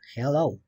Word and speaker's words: Hello: otra palabra por ejemplo Hello Hello realmente se pronuncia como si dijeras con j Hello no como como la e entonces bueno Obviamente todos